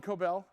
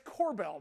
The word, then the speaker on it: Corbell: uh or coal see Greg screw his name's but Greg calls him coobel yeah because saying it wrong he's not a champagne he's a it's Corbell knucklehead uh is